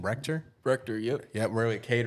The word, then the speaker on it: Rector: Rector, yep.